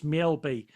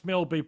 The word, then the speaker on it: Mjällby: I'm going to find out the correct pronunciation. To me, it's Mjällby.